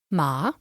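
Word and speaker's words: 马: it can be pronounced with a falling and ever a slightly Rising tone ma which means horse with a falling tone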